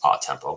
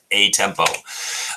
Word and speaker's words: a tempo: It's pronounced a tempo, but if you're from New York, you're going to say a tempo.